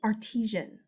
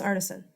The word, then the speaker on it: artisan: It's artesian. No, it's artisan.